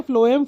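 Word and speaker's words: phloem: रख सकते हो कि फ्लोएम को एफ से पढ़ते हैं फ से पढ़ते हैं भले स्पेलिंग पी से चालू हो पर पढ़ते क्या है फ्लोएम तो फ्लोएम और फूड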